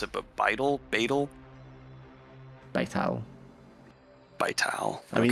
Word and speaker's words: Vital: I don't know how you pronounce it, but Vital? Vital. Vital.